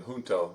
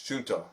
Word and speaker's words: Junto: feel really dumb because I keep wanting to pronounce his name Hunto. It's Junto, right? Junto Junto. Junto. I want to say Hunto so badly. The J would be silent.